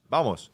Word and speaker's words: Vamos: Bamos. Vamos. No. Bamos. Bamos. Yeah. B. But they pronounce the V as a B, don't they?